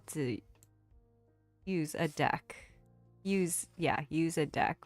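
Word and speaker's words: deque: pronounce how to pronounce the data structure deck is typically pounced deck like a deck of cards because it helps differentiate it from the verb dq which means to remove an item from a que because I'm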